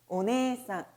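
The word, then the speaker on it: お姉さん: 장음을 넣어서 발음해 주시면 좋고요. 자, 이번엔 언니, 누나로 가겠습니다. 아내, 아내. 오네상, 오네상.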